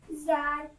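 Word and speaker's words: ذ: So zal is very soft letter. Okay, dal. zal, Dal, when dal pronounce dal, tongue touches between the teeth.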